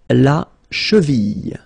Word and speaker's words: la cheville: La cheville, la cheville. Remember, double L like that after I, cheville.